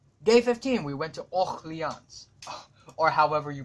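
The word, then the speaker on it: Orléans: 15 we went to all who yawns or however you pronounce it you know let's just search out of for none pronounce Oh yawns okay that's that's how so yeah anyway I've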